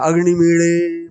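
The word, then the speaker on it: अग्निमीळे: ड़ भी नहीं बोलते, ल ड़ के बीच में ड़ का उच्चारण खास ढंग से करते हैं। तो इसको मान्यता देके भारत सरकार ने जो उच्चारण है अग्निमीड़े मीड़े, मैं तो बोल रहा हूं, देखो ये उच्चारण, ये अग्निमीड़े पुरोहितम, ये जो ड़ आ रहा है वो ड़ बोलना, तो ल है ना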